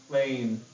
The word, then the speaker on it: plane: Qui Gabriel okay so what happens when we turn plan into the a says its name right plane good job where is